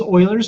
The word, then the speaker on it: Euler: We take E, which is Euler's number, sometimes erroneously called Euler's number, because it